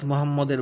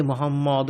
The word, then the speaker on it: মোহাম্মদ: মিমের উপর তজদিদ রহি আছে। ফলতুইহার উচ্চারণে মিম দ্বিগুণ হই আছে। অর্থাৎ মোহাম্মদ মোহাম্মদ।